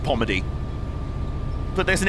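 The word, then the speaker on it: Polmadie: One thing I've learned about a lot of Scottish pronunciation is that if there's random L's in the middle of a word, just don't pronounce them. Like, there's a Polmady in Glasgow. It's just Pomady.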